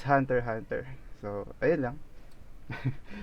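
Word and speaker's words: Hunter × Hunter: So you don't pronounce the word X in that title because it's just like decorative style when you are writing a title or something like that. So Hunter x Hunter, no, it's not Hunter x Hunter.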